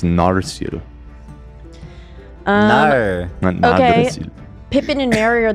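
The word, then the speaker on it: Narsil: So, it's just Narcil. I was saying it wrong. It's Narcil.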